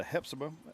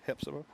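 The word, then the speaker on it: Hephzibah: Washington Wilks is losing to Hepsa 14 to7. That's the way you pronounce that. Heepsa.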